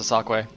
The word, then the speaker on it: dsaqwe: This is not the home row on the keyboard. It is pronounced dsaqwe.